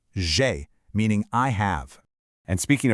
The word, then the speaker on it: j'ai: J'ai is pronounced j'ai. Just perfectly smooth, kind of like the name Jay, but with a soft buzzing zh sound. J'ai, meaning I have.